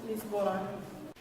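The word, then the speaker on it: Lizbona: In Slovene, it is pronounced Lisbona.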